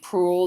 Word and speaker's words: Proulx: It just came out a couple years ago by Annie Proulx. There's an X at the end of her name that isn't pronounced.